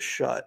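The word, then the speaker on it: Schutt: what cost um bringing is it Jaden shoot or is it shut I've never really how to pronounce it's shoot yeah bring him in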